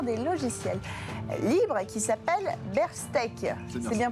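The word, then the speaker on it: Bearstech: une coopérative d'experts des logiciels libres qui s'appelle Berstech. C'est bien prononcé?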